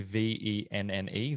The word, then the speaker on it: Venn: i got to be the swedish word for friend yeah which is ven v-e-n i think it's actually v-e-n-n-e venn there yeah that's how it's pronounced um and the the